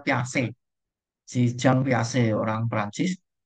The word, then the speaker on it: Piaget: Atau teori kognitif punyanya Piaget ini bukan Jean Piaget gitu enggak ya, bacanya Piaget.